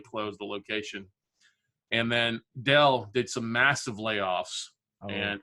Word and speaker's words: Dell: where a computer company it rhymes with hell Dell or some people would